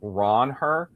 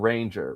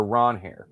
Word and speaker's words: Ranger: he he is going by he says to pronounce his name? Ronher. What? Did you hear that? Yeah. Like Ronher. That's how you're supposed to say it. Not Ranger. Ronher or Ronhair.